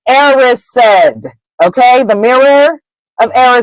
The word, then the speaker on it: Erised: the mirror of erised that is the proper way to say that word if you read the chapters alloud on YouTube the word is erised okay the mirror of